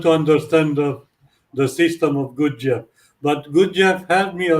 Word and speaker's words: Gurdjieff: on your website, and I want to pronounce their names. Gurdjieff? Gurdjieff. Gurdjieff.